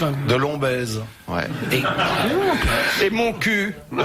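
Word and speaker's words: Montcuq: Et mon cul ? Ah oui, dans le l' Oui. Bah alors, je rappelle que mon cul, ça s'écrit mon cuc. Oui, on prononce mon cu.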